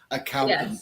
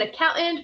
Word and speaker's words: accountant: without, even though it is spelt with a T, T-A-N-T, I don't really pronounce the penultimate T. So it's accountant, accountant.